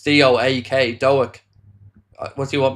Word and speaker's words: Doak: David said, no disrespect, but Doak and Kumas need to be sold, not up to the level.